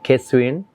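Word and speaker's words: Kexuyen: The next shade is called Kesuyen. You spell it at K-E and then X-U-Y-E-N.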